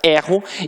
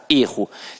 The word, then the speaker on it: erro: E se ele aprofundar ainda a análise dele, vai dizer que o verbo tem a pronúncia aberta, erro, e que o substantivo tem a pronúncia fechada, erro.